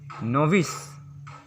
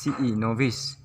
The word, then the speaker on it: novice: फिर 19 नंबर पर हम लोग का आता है वर्ड नोविस। इसका स्पेलिंग होता है NOVICE, नोविस, जिसका अर्थ होता है न्यू लर्नर और नौसिखिया।